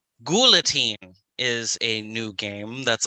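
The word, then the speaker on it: Guillotine: i have confirmed that it is pronounced gulatine not guyateen we've got a lot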